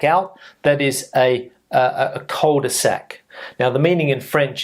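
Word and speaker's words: cul-de-sac: and come back out that is a a colder Sac now the meaning in French is different but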